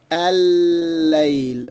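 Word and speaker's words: الليل: So what happens here is that this lam of al is dropped, and this lam and after al is doubled, shadda. And so we pronounce it al-layl, but the lam that we are pronouncing is in fact not the lam of al, it is the lam of layl, the 2 lams of layl.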